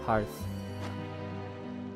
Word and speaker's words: hearth: Pronounce them hearth. Kasi TH. Hearth.